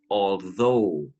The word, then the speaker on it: although: first one first two although even though okay now be careful of pronunciation okay the last three letters u g h they are silent okay so you do